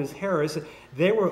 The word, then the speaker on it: Harris: So I got I got Harris, which of course in French you don't have a you know you don't pronounce the H in French. So it's Aris of it sounds sounds.